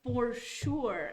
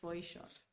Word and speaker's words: Foisor: They Well, say it's, oh, your name is pronounced for sure, and I'm like, Oh. no, it's not. So I just say Foishor because it's just easier, So, but it's Foishor.